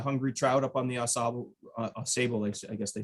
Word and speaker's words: Ausable: I grew up in Detroit, so I always get confused on which river is supposed to be pronounced which way, but it's the Ausable, I think, here.